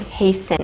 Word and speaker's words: hasten: be careful with pronunciation the t is not pronounced heisen hasten it's just an s